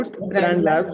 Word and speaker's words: G.O.A.T Brand Labs: So how do you pronounce this? So Goat Brand Labs because it has greatest of all time built into it.